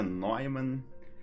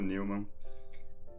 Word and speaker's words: Neumann: Em alemão, a pronúncia seria Neumann. Mas já estou acostumado. Eu, quando falo meu sobrenome para as pessoas, eu também já falo Neumann, para facilitar o processo.